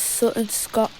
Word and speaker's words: Sutton Scotney: We're about to go through Hamsley Green, then through Sutton Scotney, or it's pronounced as Sutton Scot.